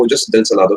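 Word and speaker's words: Ojos: Salado याद रखना है आप इसे ओहोस भी बोल सकते है लेकिन जो है मेरे कुछ ज्यादा ही जोर पड़ रहा है मेरे ट्रैकिया पे तो मैं इसे ओजसलादो ही बोलूंगा ओहोस बोलने में तो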